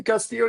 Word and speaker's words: Castillo: She pronounced your name, Castillo. She pronounced it perfectly, with like perfection, man. You got that double L. She got that EO real well.